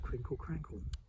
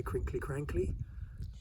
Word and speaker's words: crinkle crankle: we end up with 'crinkle crankle' some Suffolk people say 'crinkley crankley', because they pronounce the 'e' on the end just the same way